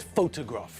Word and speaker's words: photograph: falls on different syllables think about the word photograph rings there the stress is on the first syllable just like in Hungarian but when we look at the word for the person who took the photograph then the stress moves our photographer took a